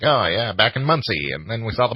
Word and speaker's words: Muncie: Muncie.